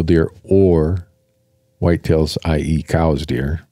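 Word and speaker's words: Coues: or white tails I.E cows deer everyone calls them cou but technically it's pronounced cows really we'll call it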